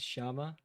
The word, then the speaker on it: llama: LL is Y. Or J. Llama is Shama.